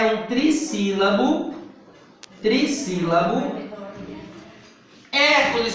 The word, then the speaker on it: Hércules: Olha aonde Não é ele é um proparoxítono a sílaba mais forte é a primeira antepenúltima Tá vendo como é